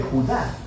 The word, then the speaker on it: Judá: de Judas más precisamente Judá de acuerdo con la pronunciación de su nombre tanto en griego como en hebreo Judá Era uno de